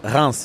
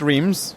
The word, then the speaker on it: Reims: you got it right it's R not RS I'm sorry for uh those who thought it was RS but it's spelled r e i Ms people can be forgiven